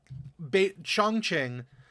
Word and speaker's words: Chongqing: I'm trying to remember how he pronounced it. It's Chongqing.